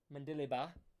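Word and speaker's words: Mendilibar: Jose Louis that's how you say his name mandeliba Spaniard 62 years of age got the one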